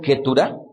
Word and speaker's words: Ketura: Esta mujer, su segunda mujer de nombre Ketura, así es como se lee, su etimología del nombre viene de la palabra incienso, que viene de la raíz hebrea katar.